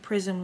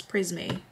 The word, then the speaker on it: Prisme: concealer with my javoni prism Libre or people call it prisme Libre I can't believe I've been saying it wrong this whole time time it's prisme nobody corrected me though I'm